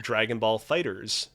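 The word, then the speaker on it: Dragon Ball FighterZ: are as well as Dragon Ball Fighters pronounced with an S even though it's a z H yes yeah all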